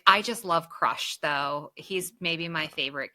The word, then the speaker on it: Crush: No, no, it is Crush. Sorry. It's Crush the Sea Turtle, right? Yeah. Yes. Yep. Yeah, I said it wrong. Oh, did you? I was like, maybe I call him Crash.